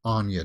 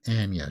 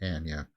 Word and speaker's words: Anya: is Anya Taylor Joy it's not Anya Taylor Joy guys it's Amya she she said it herself she pronounces her name Anya so that's what we'll